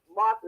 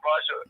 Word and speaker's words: Martha: I'll just say Sister Martha is a beautiful sister because we've been calling her name wrong all the time and she never corrected me. I know Brother Mark loved me, so it don't even matter. I know I've been doing Sister Marsha for quite a few years now.